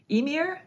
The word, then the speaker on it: Ymir: We had Gaia as well as Ymir, I believe, is the pronunciation.